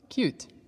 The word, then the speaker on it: cute: you T is cut if we add an e it goes turns into see you t e cute pause the video finish